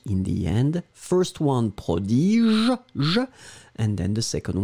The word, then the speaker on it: prodige: A would be pronounced prodige, je, remember, je in the end, prodige, and then B, the one that we had, is prodigue.